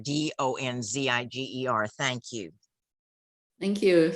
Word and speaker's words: Donziger: So if anybody wants to look it up, I'm sorry, I mispronounced his name. It's Steve Donziger, Donziger.